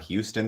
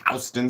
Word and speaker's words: Houston: Like in New York, it's not Houston Street, it's Houston Street, which I always, never understood.